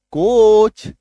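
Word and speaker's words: coach: जैसे A double T ए सी H, attach, C ओ ए सी एच, कोच, पी ए सी एच, पीच, आर ए सी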